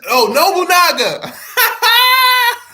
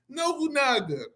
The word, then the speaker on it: Nobunaga: And then as soon as Nobunaga. Nobunaga.